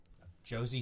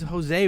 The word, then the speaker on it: Jose: Josie Theodore? You really Theodore? He pronounced Jose wrong. He said Josie. I assumed it was Josie.